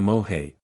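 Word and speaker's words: mowhay: is carried to the moay pronounced a moi why before it is cried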